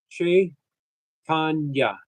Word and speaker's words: Chaitanya: C H in Sanskrit is pronounced C H in English.